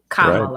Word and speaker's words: Kamala: Comma, like a comma. Kamala.